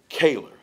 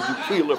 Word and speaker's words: Keylor: Howard Keylor, and I have one bone to pick with you, Howard.